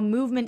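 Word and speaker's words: MVMT: watch guys too so you know movement is spelled MVM T and I know personally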